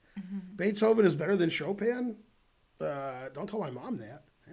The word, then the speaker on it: Chopin: Chopin let's see Andrea boat says pronounces Chopin like chopping wood they spelled chopping wood wrong Beethoven is better than show pin don't tell my mom